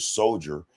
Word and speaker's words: soldier: pronunciation to the word soldier has the pronunciation soul in it?" Soldier. Yes. soul. Yeah. All right. Why is it that d i e er dire in soldiers? The pronunciation sounds like jury.